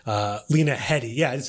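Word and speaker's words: Lena Headey: could see that basically this family like the Lena Henny and uh um I just said her name wrong uh Lena Hedy yeah I just say that right Lena Hy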